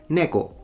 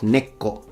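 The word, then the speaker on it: 猫: However, it's neko, not neko. Like he puts a little two, like a doubling of the K. That's incorrect. It's neko.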